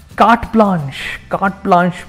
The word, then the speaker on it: carte blanche: Carte blanche means, the pronunciation firstly is carte blanche, very common word, and the meaning of this is complete freedom to act as one wishes.